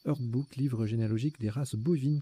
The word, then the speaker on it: herdbook: rien en 8 et en 9, on a Herdbook au pluriel, H-E-R-D-B-O-U, B-2-O-K, pardon. Allez, je vais vous le mettre celui-là dans les définitions. Herdbook, pardon, ça se prononce Herdbook, livre généalogique des races bovines, caprices et porcines.